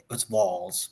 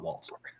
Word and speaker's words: Walz: saying Waltz, and we're like, Gloria, like let's Walz, not Waltz.